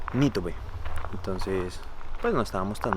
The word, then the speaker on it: Nitobe: se pronunciaba correctamente y me dijo que es Nitobe, Nitobe, o sea, con el acento en la NI, Nitobe.